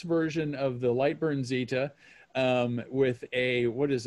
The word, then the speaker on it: Zeta: is a light burn zeta or is it zita as should i be saying zeta's the proper pronunciation it is a light